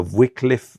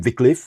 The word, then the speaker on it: Viklef: Wycliffe Viklef or Va. We pronounce him Viklef. Exactly. And we call him Wycliffe.